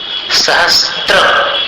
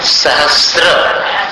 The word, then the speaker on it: सहस्र: सहस्त्र ऐसा उच्चारण नहीं करना, वो अशुद्ध है। शुद्ध उच्चारण क्या है? सहस्र, स में र, सहस्र रश्मि प्राचीव दिक्